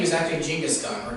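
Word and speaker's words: Genghis Khan: stone by the way uh his the correct pronunciation of his name is actually jinga's gun or ching is gone yep yep that's that's the actual correct pronunciation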